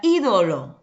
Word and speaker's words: ídolo: a tomás tenemos ahí la palabra ídolo separando tenemos y yo lo miraba y yo lo como baja la intensidad entonces la mayor intensidad lo encontramos de acuerdo en la ante penúltima sílaba esa es tu sílaba